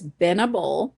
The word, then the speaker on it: Benable: There is no D in it. It's Binnable.